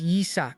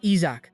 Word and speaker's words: Yeach: You're saying it wrong. My name is Yeach, not Isach.